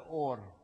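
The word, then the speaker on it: אור: называется Я не знаю это значит свет произносится ор если в это слово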